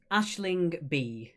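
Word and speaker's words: Aisling Bea: It is Ashling B. Ashling B for number 5. Don't worry about the spelling. As with most Irish names, they're not phonetically correct as they look. So it's Ashling B.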